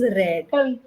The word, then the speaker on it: read: yeah I read read read is a very tricky word r yeah you say read I'm I I'm reading this book but even the past tense May the word is the same but is red okay so you're reading